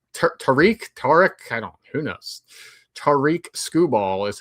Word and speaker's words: Tarik Skubal: Tarik Skubal is how I say his name.